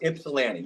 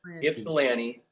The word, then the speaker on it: Ypsilanti: Pronounced Ipsalanti. You were close. Ipsalanti.